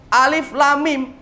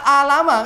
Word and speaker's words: Alif Lam Mim: Alif lam mim. Jenengan kan tidak baca alama, kan begitu. Dan bacanya apa? Alif lam mim, dikasih layar panjang semuanya, kan begitu.